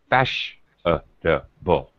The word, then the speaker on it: fashionable: take a word like fashionable, okay? It has this obviously first syllable stress, fash, but then the other vowel sounds are just fashionable.